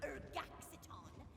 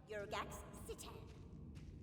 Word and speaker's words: Urgaxitan: Acolyte Mabel, your pronunciation is terrible. How are we supposed to summon a prophecy when you insist on pronouncing it Urgaxiton, when it is clearly written right there, Urgaxitan?